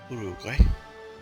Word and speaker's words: Uruguay: Argentina we're improving there Uruguay or Uruguay Uruguay as I understand the way they would pronounce it no we don't want